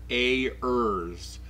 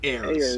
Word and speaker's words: Ayers: Ayers, not heirs.